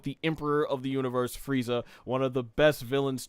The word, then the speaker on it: Frieza: No, that being is Furiza-sama, basically pronounced in English as Frieza.